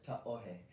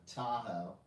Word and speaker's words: Tahoe: So you can call it Tahoe, but if you want to sound like you know what you're doing, ta'ohe.